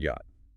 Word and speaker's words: yacht: Take the word yacht, borrowed from the Dutch. The CH was originally a raspy velar fricative. The Dutch yacht? English speakers couldn't handle the rasp, so it went silent.